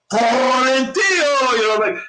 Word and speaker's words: Quarantillo: Quarantillo, hey, and I can picture Joe Martinez saying it, and he'll roll the R, Billy Quarantillo, and it's not the way it's supposed to